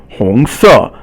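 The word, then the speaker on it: 红色: 红色红色 is second tone and then fourth tone. 红 is second, 色 is fourth tone.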